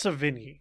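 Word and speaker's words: Sevigny: Next, we have Chloe Savigny. Did I say it right? I think it's Savigny. Savigny? Okay. Well, there you go. There's like a nya sound in there.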